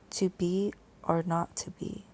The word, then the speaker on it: 2BR02B: The 0 in the telephone number he pronounced not. The number was 2B or not to be.